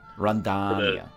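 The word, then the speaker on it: Rondônia: You have to say it with a long O though. Rondonia. Yeah, for the emphasis on the long O.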